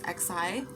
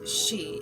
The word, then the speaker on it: Xi: on joe biden and what i used to pronounce as being xi jinping because it's his first name is exci and i thought that was the cooler way to say it but it's the proper way is she as in he she